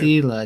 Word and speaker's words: Sila: Oh, by the way, the name is said My name is said like see Kid. Sila, not.